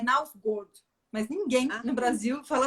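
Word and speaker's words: Knausgård: pode me corrigir, mas parece que o jeito certo de falar é Nausgard, mas ninguém no Brasil fala assim.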